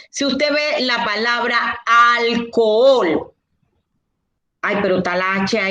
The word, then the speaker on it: alcohol: ustedes con el trabajo la ancce es muda la h no existe la h es como el collar que yo tengo el anillo que yo tengo el reloj que yo tengo el alético que yo tengo los lentes que yo tengo el ganchito que yo tengo es un entorno en una palabra adorna la palabra ella no suma ni resta entonces ustedes la tienen que ignorar si usted ve